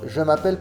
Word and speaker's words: je m'appelle: Je m'appelle. Les lettres L, E finales ne se prononcent pas.